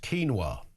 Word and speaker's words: quinoa: Richie says uh quinoa is pronounced keenwa.